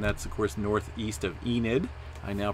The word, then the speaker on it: Enid: And that's, of course, northeast of Enid. I now pronounce that correctly.